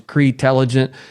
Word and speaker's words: CREtelligent: spelled cre intelligent t-e-l-l-i-g-e-n-t so just like it sounds cretelligent Anthony thanks for coming